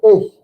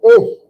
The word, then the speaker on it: ich: But that's not, say this word, ich. It just has a little bit of gurgling in the back of your, ich. Almost like a I-X-S-C-H or I-X-S-H, ich.